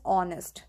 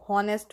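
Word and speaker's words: honest: For example if इट is written as ऑनेस्ट। तो होनेस्ट बोल देते हैं। एच यहां पे साइलेंट है।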